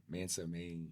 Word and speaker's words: Mansa Mayne: Mansa Mayne.